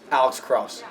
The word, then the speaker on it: Alex Krause: Alex Krause.